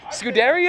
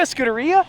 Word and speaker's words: Scuderia: 430 scootery is it scooteria how do you pronounce it scudaria Scuderia Scott Scott yeah it's this guy the Americans say scud because we don't know our Italian very well one of my all-time